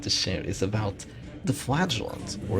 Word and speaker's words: Flagellant: about the Flagellant, or apparently and canonically, Flagellant. That's right, Flagellant. Some people are crazy enough to pronounce it Flagellant, and apparently Wayne June is one of those people. If you've seen the DD2 shrines for the Flagellant, he pronounces it as just that, and I honestly hate the pronunciation. It doesn't make any sense to me, but you know, it is now canonically Flagellant.